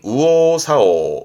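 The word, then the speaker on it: 右往左往: 발음은 우오사오, 우오사오처럼 기본적으로는 발음이 우가 되는 부분이 있고요.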